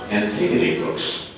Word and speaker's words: Antigone Books: And they thought they were going to fool me with this, but I know it's pronounced Antigone books.